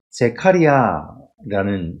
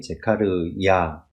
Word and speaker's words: 제카르야: 스가랴의 말씀을 보게 되면 스가랴라는 그 선지자의 이름이 나오게 되는데 그 스가랴 선지자의 그러니까 원래 그 발음대로 하면 제카리아라는 이름입니다. 그래서 야라는 게 이제 여호와를 이야기하는데 제카르야.